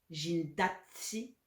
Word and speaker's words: zhindatthi: Le 6 et le 8 sont les deux seuls chiffres dont la terminaison est une voyelle. C'est pour ça qu'on a ajouté un T à si pour l'accent tonique.